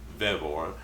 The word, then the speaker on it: Vevor: this to me and I don't know if they're called vivor or bevor I would think Vore but I made a note on my phone ask them the pronunciation so there's the spelling right there v v o r Vore and that's what call